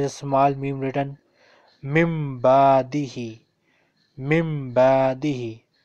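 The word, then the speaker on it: مِنْ بَعْدِهِ: Then in the next word again there is a small meme written, mimbadihi, mimbadihi. On normal occasion it is pronounced min, but here we will say mimbadihi.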